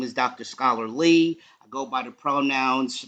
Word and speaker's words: Scholar Lee: dr scholar lee and that's how it's pronounced like scholar lee and i'm gonna let